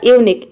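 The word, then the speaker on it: unique: अब यहाँ पे देखिए क्यू यू को हम क प्रोनाउंस करेंगे। ई जो है वर्ड के लास्ट में आ रहा है, इसलिए हम यहाँ पे ई को प्रोनाउंस नहीं करेंगे, ई यहाँ पे साइलेंट है। तो ये हो जाएगा यूनिक।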